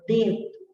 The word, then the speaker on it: dedo: Então, você não pronuncia o O de dedo do mesmo jeito que você pronuncia o O de amor, certo? Então, quer dizer, no amor ainda tem mais intensidade na pronúncia do O. E na palavra dedo, a pronúncia do O já vai sendo amortecida, ok?